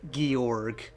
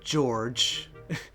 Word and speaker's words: Gyorg: Though I know some people are just saying stuff like Georg or George, as to pronounce it. Honestly, I think Gyorg sounds the best, personally, because it just sounds cool.